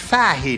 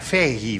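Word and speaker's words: Fahey: fahe I'm I forgot that it's an Irish name it's pronounced fahi not fi like I said you're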